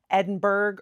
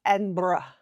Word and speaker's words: Edinburgh: is to pronounce it Edinburgh or Edinburgh. It's more like Edinburgh. I still can't do it right, I know. It's kind of more like burr-ah, not burg, like we would pronounce it.